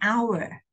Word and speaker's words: hour: In 1 hour. This one, H, no sound, silent H sound. You sound O-U-R, hour.